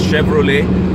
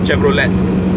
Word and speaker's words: Chevrolet: Then it's Chevrolet, okay, for C, it's Chevrolet, not Chevrolet. I hear a lot of people say Chevrolet. No, it's Chevrolet, lay, at the end is a lay, not let.